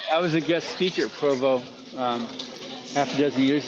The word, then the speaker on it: Provo: You can't call it Pervo, my friend.